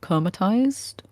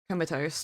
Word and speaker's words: comatose: Comatized? Comatose. Is it? Comatose. I'm proud of that. I did decent though. How do you get Com- tized from that? There's no I in the word.